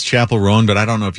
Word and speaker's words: Chappell Roan: Chappell Roan. Yeah. Okay. It sounds like chaperone.